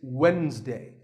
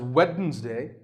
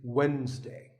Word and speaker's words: Wednesday: of the week it's wednesday the d is silent sometimes it's pronounced as wednesday but the proper way to say it is wednesday what about this word